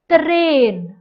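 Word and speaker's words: tren: also called a train terrain notice the sound of t and the r has to be stressed in spanish the sound of an r is very very strong so you will say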